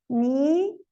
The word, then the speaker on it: knee: Knee, no, knife.